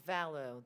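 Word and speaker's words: Vallot: It's Vallow, the T is silent.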